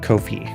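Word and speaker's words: Ko-fi: I I think it I think it is pronounced like Kofi not I always want to say coffee because it's a coffee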